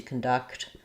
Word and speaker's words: conduct: So we have the verb to conduct is stressed on duct.